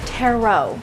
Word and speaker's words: tarot: being the TR cards it's pronounced Tero oh sorry it was more like Tero B Because Elisa is